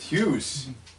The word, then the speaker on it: Hughes: that's great news and news rhymes with lose lose rhymes with Hughes how does the best